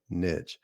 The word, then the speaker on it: niche: I know it's supposed to be pronounced niche. I'm here in Tennessee. We say niche, but you've got a